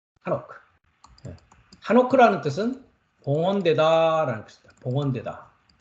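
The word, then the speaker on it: חֲנוֹךְ: 히브리 발음으로는 이걸 하노크라고 합니다. 하노크. 하노크.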